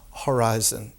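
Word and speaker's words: ὁρίζων: in greek is horizon pronounced horizon with an aspirant and they get it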